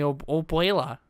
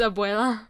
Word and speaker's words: Abuela: I just know the word Obuela from Dora. I feel like I'm saying it wrong, but it doesn't matter. You are. It's Abuela.